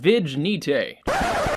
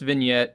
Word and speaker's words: vignette: my personal go-to favorite is under imagefx called vijnite just kidding it's pronounced vignette I just wanted to see your reaction to